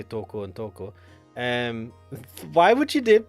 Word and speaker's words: Toko: first now I need to he out it's pronounced Toco dashed over to toco's bed panting like mad